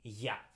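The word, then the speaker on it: Я: But the problem is because Ya, it will be more or less like this in English.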